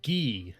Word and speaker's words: Guy: first of all his name is pronounced gui like the uh uniform that uh ken and ryu wear secondly recruit him with